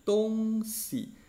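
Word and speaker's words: 东西: timur-xiii ini artinya barat kalau kita gabungkan tongsi untuk si ini harus piringan kan bunyinya jadi tongsi kalau kita baca 11 tung Sisinya natung artinya Timur si artinya barat tongsi timur-barat tapi kita bacanya dengan nada ringan tongsi ini artinya adalah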